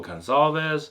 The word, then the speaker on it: Gonçalves: Yeah, because it kind of looks like an S if you draw an S all the way up, but it's spelled with a C, but it makes the S sound with the little hook in there.